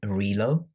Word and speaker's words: Relo: And I ordered these ready meals weeks ago from a company called Relo, which stands for Reload apparently. That's why I know how to pronounce it.